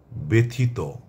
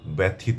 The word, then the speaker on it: ব্যথিত: হবে এর মত হবে যেমন ব্যথিত আমরা এটাকে ব্যথিত বলবো না ব্যথিত ব্যথিত তেজিয়া ব্যক্তি কখনোই ব্যক্তি